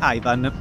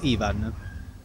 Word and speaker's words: Ivan: un gorilla maschio adulto di nome Ivan, qui erroneamente pronunciato Ivan.